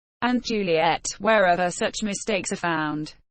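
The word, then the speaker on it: Juliett: Juliet is spelled with a TT for French speakers, because they may otherwise treat a single final T as silent.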